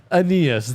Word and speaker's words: Aeneas: Aeneas, there you go.